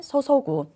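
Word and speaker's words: 注ぐ: 정렬을, 자, 이때에는 뭐라고 읽냐면은 소소구, 정렬을 쏟다, 기울이다 라고 해석을 하셔야 되고요.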